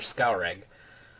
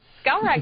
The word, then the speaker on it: Skalrag: Well, for Skalreg. Skalreg? Ugh. This is going to be like a running gag with me that I can't pronounce anything. Skalrag is correct.